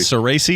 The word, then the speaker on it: Cerasi: Cerasi, is that how you say it?